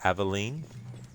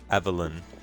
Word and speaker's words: Aveline: gotcha yeah I mean sometimes it's pronounced Aveline sometimes it's uh Evelyn but yeah a-v-e-l-i-n-e I'll